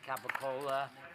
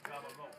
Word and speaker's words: capicola: White Americans say Capicola. Okay. They're Italian, it's Gabagool.